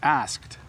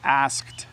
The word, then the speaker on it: asked: Could you pronounce asked? It's a bit difficult word. It is a difficult word to pronounce because of the consonant clusters at the end. So asked is difficult.